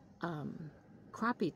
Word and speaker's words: crappie: spots, because now is crappie time. It's spelled C-R-A-P-P-I-E. They tell me it's pronounced crappie. Some pronounce it crappie, but it's a small fish, very bony.